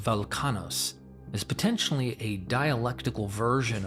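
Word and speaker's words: Velchanos: As Welchanos, pronounced Velkanos, is potentially a dialectical version of the Sanskrit Balakana, Velkanos is actually a later Greek pronunciation of the original Minoan.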